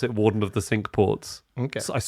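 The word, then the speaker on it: Cinque Ports: It's it's a crazy choice, but there is this honorary position called warden of the sink ports and uh Wellington was that.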